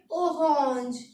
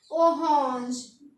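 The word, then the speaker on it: orange: इसको पढ़ेंगे ओहोंज। क्या पढ़ेंगे? ओहोंज। और इसको लिखेंगे सेम। तो ऑरेंज को बोलेंगे हम ओहोंज।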